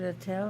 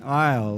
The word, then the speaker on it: Iyall: Attell, right? I always say your name wrong. Say your name right. I was raised with the pronunciation Iyall, like walk down the aisle.